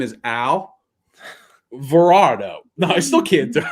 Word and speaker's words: Alvarado: jose avalardo's thing it's alvarado right that's how you say it alvarado i think i got to think of it as an actual person's name his name is al varado no i still can't